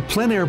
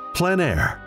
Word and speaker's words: plein air: Called plein air, the French coined the term, which means open air or outdoors. The French pronounce it plein air. Others say plein air.